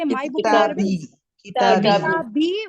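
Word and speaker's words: كتابي: Kitabi with a ya, right? You have a kasra and then you have a ya here, right? That's how you say kitabi.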